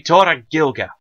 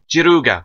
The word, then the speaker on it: Gilga: that now no t gilga or JGA jiruga if you want the Japanese remember they pronounce L's as RS and rs as L's or that sound anyway so noi hey I